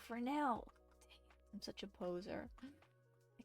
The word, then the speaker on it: Fresnel: The Fresnel effect. No, Fresnel.